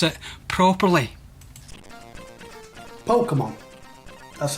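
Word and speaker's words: Pokémon: that he's heard, and hopefully we'll hear him pronounce it properly. Pokemon. That's how I'd say it. Pokemon. Pokemon, that's how Sean's going to pronounce this particular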